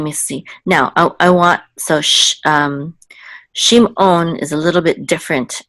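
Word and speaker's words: שמעון: The ayin is not just silent; it's actually guttural, and it's like a Klingon sound from Star Trek. So it's on, okay? Shimon, okay? So that's the ayin. It's ayin. It's a little bit guttural.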